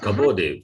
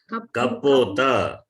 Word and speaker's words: कपोतः: ते के ते कबोधे not kabode see pronunciation you have to correct it's not kaboda what is kaboda kapota katora vyanjanani mridu vyanjanani that difference is there I've been saying from the beginning kapota कपोतः तौ you